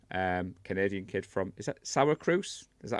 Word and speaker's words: Syracuse: Canadian kid from, is that Syracuse? Is that how you say that, Lee? You were close, Syracuse. I'm well known, everybody, for not getting my pronunciation correct, being from the northeast of England.